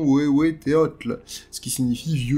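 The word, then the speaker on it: Huehueteotl: il s'appelle, excusez-moi encore une fois pour la prononciation, Wewe Teotl, ce qui signifie « vieux dieu ».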